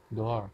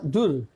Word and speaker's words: door: look look I but kalau ada tulisan d o o r d o o l yang artinya kalau in bahasa is pintu door Iya bacanya door not Dur I is different mungkin